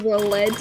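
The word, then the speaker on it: Neuvillette: Nervalet? Cause it's French! It's French! Dumb fuck! We're in France!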